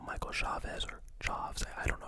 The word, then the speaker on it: Chaves: Then he did The Nun 2, Michael Chavez, or Chaves, I don't know how to pronounce the last name, I think it's Chaves.